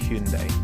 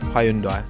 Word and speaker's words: Hyundai: by no means least we have Hundai not Hyundai Hundai is how the Koreans pronounce it that is how we will pronounce it now I've spoken many a